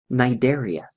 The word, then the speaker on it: Cnidaria: Now in this case, it's one of those interesting Latin words that starts with a silent C. So it's pronounced Cnidaria.